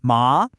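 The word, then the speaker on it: 骂: Ma, and now you're talking about hemp.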